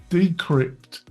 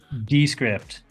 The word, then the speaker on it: Descript: number one which is decrypt decrypt I think I'm pronouncing it how would you pronounce it descript descript yes yeah um quite playing